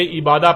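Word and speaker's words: عبادة: لکھا جاتا ہے عبادہ، اور جب عربی لہجے میں اس لفظ کو پڑھا جاتا ہے تو تیز ساکت ہو کر ہے کی آواز میں بدل جاتی ہے، یعنی اسے عبادہ پڑھا یا بولا جائے گا۔ عربی کا لفظ عبادہ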